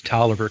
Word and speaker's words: Taliaferro: It's spelled Taliaferro, Taliaferro. That's how you spell it. But for some crazy reason, and I can't explain it, everybody refers to the county, excuse me, as Tolliver County, which I don't get.